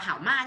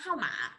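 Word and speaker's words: 号码: Sư tua xảo không phải đọc là hảo ma nhé, hảo mã.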